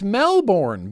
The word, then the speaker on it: Melbourne: but Melbourne oh you said it wrong it's Melbourne Ben Ben it's it's Melbourne # MVD Ash stria I know Ben I know it's Melbourne it's Melbourne unless you're me and Oya and then it's Melbourne face meat whoa this is an Urgent Message